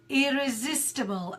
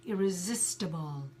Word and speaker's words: irresistible: here is this stable although it sounds at table we put I the sound is a schwa sound irresistible great excellent guys so